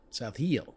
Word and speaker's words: South Hill: South Hill. South Hill. It's Hill, one syllable. Just Not like outside Tar Emporia. Heel. It's South Hill.